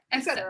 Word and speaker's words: et cetera: has nothing to do people tend to use that x and mush it together into the word but you really are